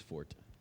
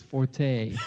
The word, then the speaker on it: forte: eyes when DB says Fort yeah Alex let's hear the French way to pronounce that word I think it's Forte you know like pretty sure